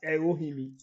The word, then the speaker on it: Erohimi: Well, fortunately, depending on the route you are taking to, it's actually pronounced as Erohimi, not Iwohimi, Okay. the way you are pronouncing it. Okay. It's pronounced Oh, okay. Erohimi.